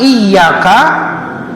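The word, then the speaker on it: إِيَّاكَ: Iya-nya ditasdid, ya, tasdid. Kan kita suka bacanya tebal, ya Pak, ya. Iyyaka na'budu wa iyyaka nasta'in. Karena kalau tidak dibaca tebal, hilang satu huruf di surah Al-Fatihah, artinya Al-Fatihah tidak sempurna.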